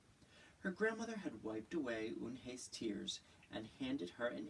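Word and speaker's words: Unhei: "Une?" the girl asked, scrunching up her face. "Une?" some kids chanted. No, Eun-hye corrected. It's spelled U-N-H-E-I. It's pronounced Eun-hye. "Oh, it's you-hey," the boy said.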